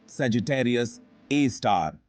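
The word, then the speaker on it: Sagittarius A*: में से एक है सेजिटेरियस ए pronounced सेजिटेरियस ए स्टार के रूप में जाना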